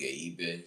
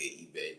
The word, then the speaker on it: Ebe: First, my government name is Ebe Ebe. The last name is spelled EBE.